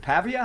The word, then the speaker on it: Pavia: So, you know this Diego uh is it Pavia?